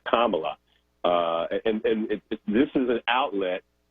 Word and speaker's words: Kamala: It's a very simple name to pronounce. It's Kamala, and this is an outlet for them to feed the fury of the mongrels that we saw attack the Capitol.